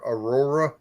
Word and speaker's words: Aurora: Kind of like the one I just did for the weather, Aurora. Mhm. Aurora. But people should be able to pronounce that because you've See, for seen that me- word before.